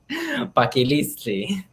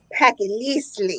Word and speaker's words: Paquilitzi: Paquiliztli. Paquiliztli.